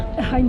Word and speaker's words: Hind: Wait, is it pronounced Hind or Hind there? Hind.